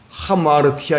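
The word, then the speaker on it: ἁμαρτία: 가운데서 빛나가 버렸어요 자이 빗나가다 하는 말이 헬라어로 하마르티아 있니다 한번 따라 한번 해볼까요 하마르티아 하마르티아 예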